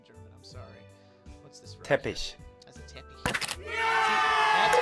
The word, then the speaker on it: Teppich: I always learned that as teppich, but they're saying teppish. So maybe I've been saying it wrong this whole time, but then you could also call it a Vorleger.